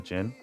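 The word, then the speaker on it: Djinn: Let's give him the Jin. Jin is the correct pronunciation, so I've heard.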